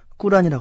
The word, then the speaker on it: 꾸란: 우리가 보통 알고 있는 코란이라는 이슬람의 경전이 있죠. 어 그런데 아라바로 발음으로는 꾸란이라고 합니다. 네.